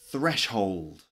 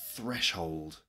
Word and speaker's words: threshold: all right number seven threshold threshold another word with a thir sound in it threshold threshold is